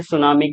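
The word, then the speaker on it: tsunami: हम पढ़ ते हैं जैसे सुनामी की स्पेलिंग क्या होगी तो उसमें टी से स्टार्ट होता है सर एस से क्यों नहीं स्टार्ट हुआ तो जबी आपको आता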